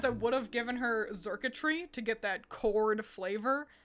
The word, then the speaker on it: Xurkitree: So no, Xurkitree really took a stab at that. Xurkitree is spelled pretty crazy. I think it's just spelled like circuitry, but with an X.